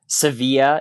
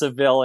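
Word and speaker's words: Seville: right is it the cevil marathon in Spain yes it's cevil cevilla if you were saying it as the locals say but uh it's sevil in English um that was an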